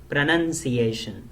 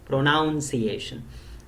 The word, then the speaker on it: pronunciation: miscommunication so mind you I said pronunciation and not pronounce iation because many a time people mispronounce this and say this is a wrong pronunciation for example so it is not pronounced iation but pronunciation and this reminds me